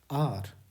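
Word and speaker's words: hour: बहुत लोग इसको हावर पढ़ते हैं, आवर पढ़ते हैं, आउर पढ़ते हैं, ना जाने क्या क्या। ध्यान रखिएगा, इसको हम लोग आर पढ़ते हैं, क्वाइट सिंपल। अगर इसके उच्चारण की बात करें तो इसको क्या पढ़ते हैं? सिर्फ यही पढ़ते हैं, आर।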